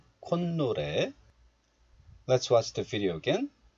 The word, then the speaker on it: 콧노래: So in this case, the 사이시옷 is pronounced as 니은. And 콧 becomes 콘. 콧노래.